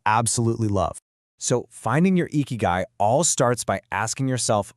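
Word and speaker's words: 生き甲斐: And for that, there's this incredibly powerful framework from Japan called eeky guy. It's pronounced eeky guy, and it basically means your reason for being.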